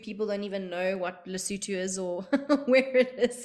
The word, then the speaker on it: Lesotho: don't even know what Lesotho is or where it is or how to pronounce it in my case you're fine lesoto works as well um and uh I